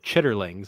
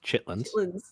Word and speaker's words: chitterlings: It said chitterlings, and I'm like, no, it's pronounced chitlins.